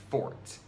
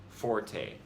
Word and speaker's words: forte: The word, which refers to one's strong point, is actually pronounced fort, not the commonly used forte.